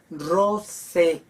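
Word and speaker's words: rosae: palabra me dice rosa Rose ae es un diptongo ae igual que el oe es otro diptongo se pronuncian como e a e o e Rosa Rose y nos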